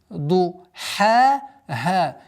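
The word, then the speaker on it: ضحاها: Так как это отдельные звуки, ду-ха, ха. Естественно, удлинение в размере двух огласовок.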